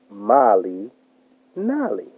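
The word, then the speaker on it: Malinalli: Mali Nali. Mali Nali. The pronunciation is Mali Nali.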